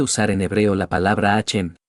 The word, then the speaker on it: Hashem: También se puede usar en hebreo la palabra Hashem, sin pronunciar la letra H como una J fuerte, porque eso está mal dicho. Tampoco debe terminarse con N, sino con M, Hashem.